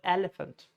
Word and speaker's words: elephant: So it's not elephant, it's elephant. Stress on the first syllable, elephant. Now, there are some long words like pronunciation, combination, enthusiastic.